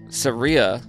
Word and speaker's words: Saria: Shout out Saria from Denver. And thank you for telling me how to say her name. She said, pronounced like Maria, but with an S.